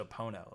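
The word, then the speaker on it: Epona: name ocarina epina yeah oh is that how you say it I always said I think I always said a pono like pono people say it either or epa okay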